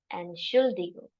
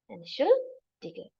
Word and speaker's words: Entschuldigung: Entschuldigung. Entschuldigung. But if you literally want to read it, it sounds somewhat like Entschuldigung, but that's not the way you say it. You say Entschuldigung.